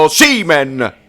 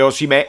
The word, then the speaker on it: Osimhen: Bravo Osimhen. Ragazzi, noi lo sappiamo che ci piace di più dire Osimè con l'accento sulla E. Però si dice Osimhen, se l'ha detto il fratello, si dice Osimhen.